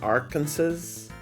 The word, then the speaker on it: Arkansas: Report to be cited in the rural town of Faulk, Arkansas. Hey, why do the uh why is Arkansas spelled as Arkansas's but you say Arkansas?